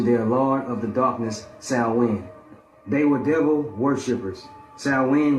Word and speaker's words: Samhain: It's spelled like Samhain, but it's pronounced as Samhain.